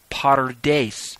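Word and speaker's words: PaRDeS: what those four ways are the acronym is pronounced Potter dace its form from the P R D s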